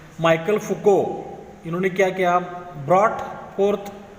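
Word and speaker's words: Michel Foucault: और हमारे इस लेसन में जो लास्ट का जो हिस्टोरियन है उनका नाम है माइकल फुको। प्रोनाउंसिएशन ध्यान में रखो, माइकल फुको।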